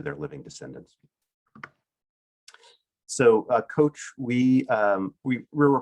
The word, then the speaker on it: COACHE: coach and you can google coach with that e at the end that's silent e um you can google